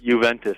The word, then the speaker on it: Juventus: Because I've read that your favorite team in the world is it, how do you pronounce it? Juventus? Juventus, yeah.